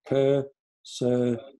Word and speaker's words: Köszönöm: There's a lot of Ö's in the word thank you in Hungarian. So in order for you to learn how to pronounce it, just think of kissy kissy your lovey, you know, Ö, the Ö sound, Ö, three of them.